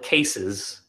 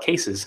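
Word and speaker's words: kses: yeah okay so so I always call it cases yeah and so I mean I don't know if that's like the official pronunciation for it but I call it cases because I think the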